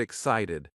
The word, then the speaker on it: excited: Now the word excited. We stress the second syllable.